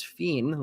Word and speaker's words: Fien: I found out that I've been pronouncing Gavin Fiend's name incorrectly the whole time. Apparently, it's Fiend, like Scene.